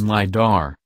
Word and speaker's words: lidar: sold to you for nearly $700 million liar pronounced liar is shorthand for light detection and ranging it